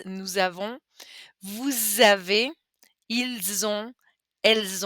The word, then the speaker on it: nous avons: So it starts with a vowel, so we pronounce that z, nous avons.